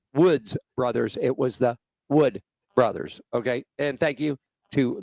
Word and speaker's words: Wood Brothers: I said the Woods as in WS brothers, and it is Wood Brothers.